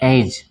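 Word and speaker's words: edge: उसी तरह एज, डी के पहले जी के कब आया है? जी के पहले डी आया है तो यहाँ भी डी साइलेंट होगा।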